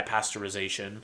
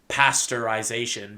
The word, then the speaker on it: pasteurization: I will point out whether this is destroyed by pasteurization. And by the way, the proper way to say it is pasteurization because it was invented by Louis Pastor, not pasteurization, but I'm going to use both interchangeably because I'm not that pedantic.